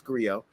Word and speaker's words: griot: They have a hard enough time saying griot. People say griot, you know what I'm saying? Like in French, the T is silent, it's griot.